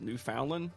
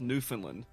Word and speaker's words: Newfoundland: I used to think the country was pronounced Newfoundland, but it's Newfoundland.